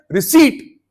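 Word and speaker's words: receipt: English में रिसीट, रिसिप्ट नहीं।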